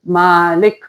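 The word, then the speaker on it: مَلِك: So make sure you pronounce it properly. Malik.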